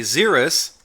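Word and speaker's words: Xerus: a l but I did look up the pronunciation and it's jeanelle a zerus x e r u s is a ground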